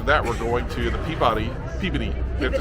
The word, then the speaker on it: Peabody: I think of it, the way to remember to say it, I think puberty. Peabody, right? Yes.